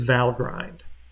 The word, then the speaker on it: Valgrind: another thing we can use another tool is val grind and it's supposedly from what i read online it's supposed to be pronounced valgrind but it sure looks like grind and it